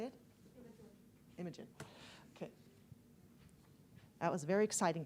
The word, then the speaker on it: Imogen: Imogen.